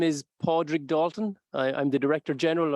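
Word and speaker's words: Pádraig: um my name is podrick dalton i'm the director general of the cso in ireland my name can be hard for people to pronounce podrig is the gaelic word for patrick so if you prefer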